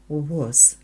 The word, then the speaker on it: was: was very Hungry too буква е після w читається о was на вулиці не було